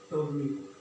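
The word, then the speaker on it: Ptolemy: इसके बाद अगर बात करते हैं हम टोलमी में, टोलमी यहाँ पर भी साइलेंट रहेगा।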